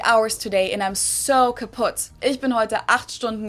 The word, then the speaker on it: kaputt: We spell it with two Ts in Germany, but we pronounce it the same way, kaputt.